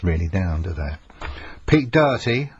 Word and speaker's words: Doherty: Pete Doherty, I don't know why people pronounce his name Doherty, because he hasn't got a C in it, but anyway, Doherty or Doherty, you will know.